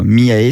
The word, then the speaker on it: Miaé: Bon, Miae, ça s'écrit M-I-A-E.